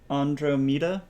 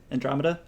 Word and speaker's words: Andromeda: larch so that will catch up with and and Romita is that my pronouncing that correctly Andromeda okay cool now I know so Andromeda has